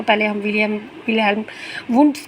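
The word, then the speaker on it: Wilhelm Wundt: तो पहले हम विलियम विल्हेम वुड्स के बारे में पढ़ते हैं इसकी विल्हेम है ये विलियम नहीं है विल्हेम वंड ऐसे है लेकिन मैं स्पेलिंग के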